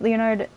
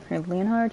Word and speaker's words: Leonhard: of ring finger Leonard I keep saying his name wrong so just deal with it sorry in his youth Leonard leonhard yeah suffered grave Burns to his entire body